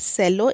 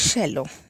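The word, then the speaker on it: cello: I play the शेलो इन the orchestra, see the pronunciation, not सेलो, इट इज़ शेलो।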